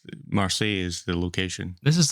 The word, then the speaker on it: Marseille: Because it's Marseille is the location.